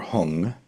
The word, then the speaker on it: Hum: And the Hum or Hung, just different ways of pronouncing the same seed syllable.